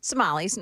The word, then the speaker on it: Somali: Somali. I I keep people have been saying Somalians and Somali and what I don't whatever. Somali rhymes with tamales.